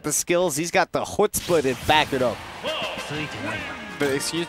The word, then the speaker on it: chutzpah: He's got the chutzpah to back it up.